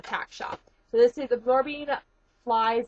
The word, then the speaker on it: Absorbine: It's Absorbine. I hear everybody pronounce it the wrong way. It's Absorbine.